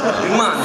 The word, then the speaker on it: Bhimani: Bhimani.